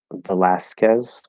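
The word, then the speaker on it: Velázquez: for these names um Velazquez right so instead of best guess the becomes a schwa because it's not stressed the last last not loss could be lost but we don't say that we say last um and then kiss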